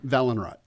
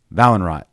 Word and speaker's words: Vallhonrat: to say it right you've got a lot of syllables in there yeah valenorot valen rot yeah i always want to like roll something yes yeah it's actually spanish but we don't say it right okay well i'm glad